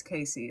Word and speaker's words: Casey: um can you clarify is it Cassie or Casey it's Casey it's spelled like Cassie but it's Casey that's what I wanted